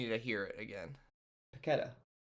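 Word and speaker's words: Paquetá: Paqueta. They were saying Paquita on the broadcast. No.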